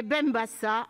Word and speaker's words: Benbassa: nomme estèphe 100h et benbassa avec un seul ace puisque le s même entre deux voyelles se prononcent f et qu'il n'y